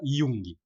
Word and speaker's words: Jung: o Jung, né, que se escreve com J, se escreve Jung, para quem não sabe se fala Jung, né?